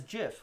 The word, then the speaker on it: GIF: kim tyrese maxie 76 the creators of the format pronounce the word as jiff with a soft g anthony steve wilhite says